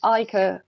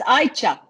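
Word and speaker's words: Ayça: correct me, is it Aike? Sorry, it's Aicha. Aicha, yes, that's Yes. what I thought because the C is like H.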